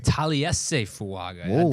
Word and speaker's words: Taliese Fuaga: ways so when you saw tal excuse me Talis say fuaga was the pick tal tal fuaga that's what I was told today tal fuaga got get get your pronunciation guides ready and U understand that it's